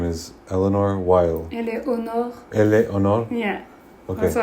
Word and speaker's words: Éléonore Weill: Well, your full name is Éléonore Weill. Éléonore. Éléonore? Yeah. Okay. Also, I go by because I have an extra vowel. Éléonore Weill. Yeah. I pronounce Weill like Oy-Vey.